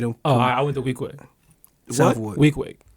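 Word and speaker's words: Weequahic: The way it's spelled and the way it's said is two different ways. If you read it, it's some bullshit. That shit sound like it's in the project. Nah, week. Yeah, like 7 days a week. Way. Just say it like that.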